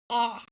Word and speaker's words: 아: So let's start with our first vowel, ah. This makes the same sound in the word car.